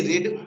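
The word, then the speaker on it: read: आर ई ए डी रीड रीड मीस होता है पढ़ना वहीं पर आर ई ए डी रेड रेड मीस होता है पढ़ा था तो यह आपको पता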